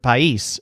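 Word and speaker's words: país: as a pie isse so the word pie eise sounds kind of like pies but it stresses the syllable that sounds like yeast pie eise meanwhile there's some empty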